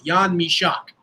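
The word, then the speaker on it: Jan Mašek: pronounced it that way that's how he pronounces it in check properly yon meshach two seconds and one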